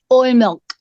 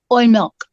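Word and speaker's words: Oimelc: are celebrating today Hallelujah it's called oil milk and it is spelled colloquially oh I am e l c or k oil milk okay and when I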